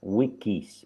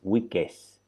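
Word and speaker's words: Weekes: Se escribe como en inglés como semanas, week, pero con una E más. Wiggins, Wiggins. ¿Vale?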